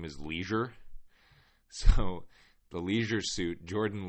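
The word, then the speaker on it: Leasure: whose last name is Leisure so the leisure suit Jordan Leisure it's not spelled Leisure it's spelled like L EA s u r e but still uh sounds like a Chicago white sock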